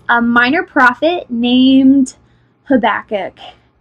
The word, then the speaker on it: Habakkuk: how to say it it does kind of sound like a sneeze I'll admit it but